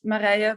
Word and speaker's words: Mara: offline as well um it's Mara but no one can pronounce it so whatever you say as long as it starts with M I'm fine with it um yeah so my